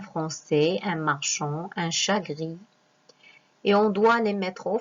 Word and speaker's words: grise: Une souris, grise. On a prononcé S-Z parce que elle se trouve entre deux voyelles, comme j'ai dit avant.